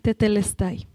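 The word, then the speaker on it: τετέλεσται: decir consumado es que en griego se pronuncia tetelestay.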